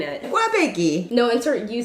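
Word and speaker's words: 꽈배기: Can you, Mom, you know how to say pronounce it? it? Wabegi.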